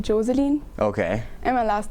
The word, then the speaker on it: Joseline: People here pronounce it Jocelyn, but in Austria everybody calls me Joseline.